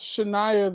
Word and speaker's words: Chinyere: So how was Chinyere the student?